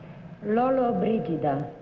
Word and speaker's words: Lollobrigida: All right, #1, how does Gina pronounce her last name? Lollobrigida.